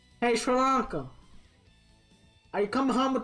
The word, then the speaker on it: Sri Lanka: everyone's mike watson says syringas pronounce shri lanka sri lanka sri lanka thank you mike walters because i'm